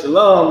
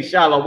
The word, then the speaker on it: Shalom: no difference one is Shalom the other one is Shalon is it but people don't know how to say it so they say shallow um and just like